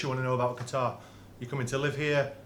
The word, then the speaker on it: Qatar: Qatar is a proper pronunciation.